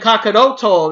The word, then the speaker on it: Kakarot: and of course Vegeta always calls him Kakarot or Kakaroto, Kakaroto, And that was a weird thing. I'm so used to, especially since that's all Brawly literally says in the other movies. I am so used to Kakaroto that it's just weird to skip out the extra O.